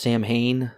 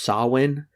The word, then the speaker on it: Samhain: remember Michael Myers writes it's technically pronounced saw win it's Celtic he wrote that on